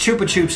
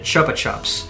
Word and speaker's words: Chupa Chups: Chupa Chups was started in Spain so it's pronounced Chupa Chups in Spain however in the UK they pronounce it Chupa Chups there you go chupar means yes chupar means